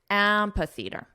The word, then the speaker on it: amphitheatre: Now the syllable stress is on the 1st syllable, so let's combine the sounds together and we'll emphasize the first syllable. Amphitheatre.